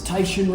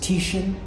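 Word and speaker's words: Titian: I mentioned last time that this is Tyishan red. I found out later it's pronounced Tishan. is named after an Italian Renaissance artist.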